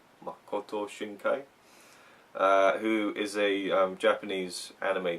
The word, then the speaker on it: Makoto Shinkai: Do you want to pronounce the name? Makoto Shinkai? Makoto Shinkai.